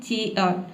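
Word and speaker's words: chair: तो यहाँ पे आप R को साइलेंट ही रखें, क्योंकि देखिए R से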